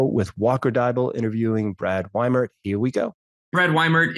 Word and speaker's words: Weimert: It's people say diesel and they know that it's the second vowel, but as soon as you switch the I and the E, everyone forgets that it's the second vowel you pronounce.